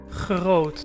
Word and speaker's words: groot: Some of the sounds that require special effort are the Dutch G sound, for example, Groot.